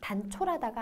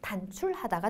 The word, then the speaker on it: 단출하다: 막 발음을 얼버무리게 되잖아요 단촐하다가 아니라 단출하다가 됩니다 뜻은 뭐 식구가 적어서